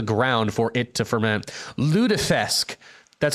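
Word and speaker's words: lutefisk: Ludesque. That's how you pronounce it. Ludesque.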